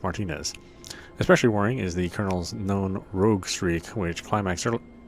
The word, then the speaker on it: Colonel: You know, why is it we pronounce it Colonel? But then when we're talking about like a group, it's colonial. Colonial Marines, but it's a colonel.